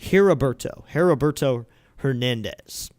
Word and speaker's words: Heriberto Hernandez: It's pronounced Heriberto Hernandez.